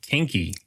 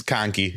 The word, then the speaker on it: Kahnke: Kinky. That's Ky.